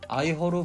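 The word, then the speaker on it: 愛河: 서쪽으로는 바다를 끼고 있다 보니 멋진 해안 풍경을 감상할 수 있고, 도심에는 한자로는 에하, 중국어 발음으로는 아이허로 불리는 강이 흐르고 있어 강 주변으로는 멋진 야경을 찾을 수 있습니다.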